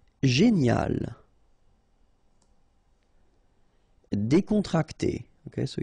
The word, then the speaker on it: décontracté: Décontracté. Okay, so you've got accent aigu here and here, so it's E. Décontracté.